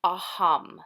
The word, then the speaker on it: aham: on a mantra and our Mantra is aam so you don't need to worry about how it's spelled or anything like that it's aham and it means I am so to yourself right